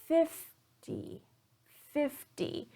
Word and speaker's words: fifty: example of worse dress 15 notice here that I'm stressing the second syllable teen 15 versus 50/50 so in 50 I'm stressing the first syllable v d50 so this